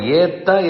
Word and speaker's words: ஏற்ற: இருக்கிறபடியால் அது மென்மையாகவே இருக்கட்டும் இத்தனைக்கும் ஏற்ற என்கிற இடத்தில் இருக்கும் ரகரமோ அதை ஏத்த என்று சொன்னால் தா என்னும் எழுத்தோ இரண்டுமே வல்லினத்தைச் சேர்ந்தவை அதில் சந்தேகம் இல்லை ஆனால் அதனுடைய உச்சரிப்பை பார்த்தால் வலிய உச்சரிப்பு வராது ஏத்த கலங்கள் அந்நிய உலகம் அளந்தாய் கத்துக் கரவை என்று சொல்லும்போது உச்சரிப்பு மெலிதாகிறது மென்மை தெரிகிறது ஆழ்வார்கள் மென்மையே அவர்கள் மனமே மென்மையானது